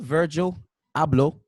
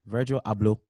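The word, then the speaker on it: Virgil Abloh: things you can look up the gone tribe is spelled GA tribe very beautiful culture expressive dances colors and everything mr. Virgil hablo that's how you say his name Virgil hablo that's how you say the Ghanaian way in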